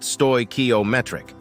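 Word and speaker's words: stoichiometric: chemically correct combination a stoak ometric mixture pronounced stoy ometric with this mixture given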